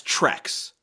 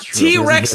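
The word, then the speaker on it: T. Rex: actually be slow cuz he mispronounces the band T-Rex as TX yeah and she's like do you mean T-Rex he's like I think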